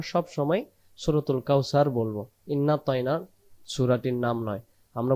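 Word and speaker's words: إنا: ইন্না প্রথম যে ইন্না এটাকে আমরা টান দিতে দিতে হবে ইন্না ইন্না টান দিতে হবে যদি আমরা টান দিতে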